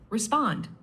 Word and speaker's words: respond: And for respond, keep the stress on the second part, respond.